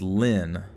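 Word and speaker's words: Lyne: two exclamation points says sorry line is the same as lin l-y-n-n so l-y-n-e is actually pronounced like lin and it's guess guess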